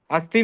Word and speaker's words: अस्ति: अस्ति में ती जो है वो क्या है? दीर्घ नहीं है।